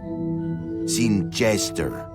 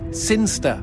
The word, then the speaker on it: Sinister: Sinister. Sinster. What? It's pronounced Sinster.